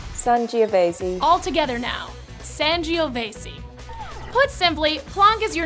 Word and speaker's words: Sangiovese: crazy foreign grapes son geovasy all together now sangiovese put simply plonk is your new wine wingman